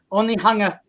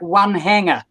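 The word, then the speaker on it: Onehunga: classroom in this old school which is the only hunger the only hunger it's very funny it's pronounced only hunger but people coming into new zealand say that looks like one hanger one hanger like a clothes hanger yeah o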